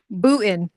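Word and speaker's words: Boonton: Bootin. The N is silent.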